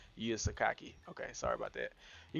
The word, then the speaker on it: Yuya Sakaki: Okay, so I got his name wrong. I thought it was Yuya Yukaki. Yuya Sakaki.